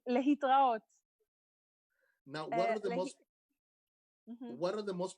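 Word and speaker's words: להתראות: Litraot. Or you can say bye. But it says lehitraot.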